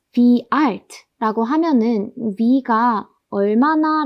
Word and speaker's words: wie: 그 다음에 이 w는 w가 아니라 wie, 독일어에선 이거 wie라고 읽습니다.